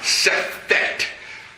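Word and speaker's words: Sefekht: Sefekt. Sefekt is spelled S-E-F-E-K-H-T.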